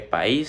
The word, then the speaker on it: país: Y por ejemplo, muchas personas podrían pensar que país se divide en una sola sílaba, pero realmente se divide en dos, que sería pa y is, is como ya les decía antes, sería un yato.